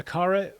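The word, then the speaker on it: Aqara: things i mean the the acara or aquara if you pronounce it that way these sensors are temperature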